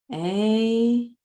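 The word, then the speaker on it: AUM: And the M is mm. And I like to put the lips inside the teeth because the vibration goes in and up towards the upper palate.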